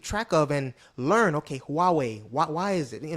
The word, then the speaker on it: Huawei: up sometimes I pronounced it wrong I said Hawaii but the pronounce the way you uh uh correctly pronounce it is Huawei right and this is basically a company that